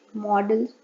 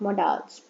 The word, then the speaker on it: modals: First, let me clear the pronunciation of models. It models, not modals.